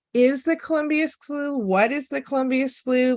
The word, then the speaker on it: Columbia Slough: all about the Columbia slooh um or even how to pronounce it I yeah English there's like five different pronounciations for ug I had a friend in DC call it the slow and uh many people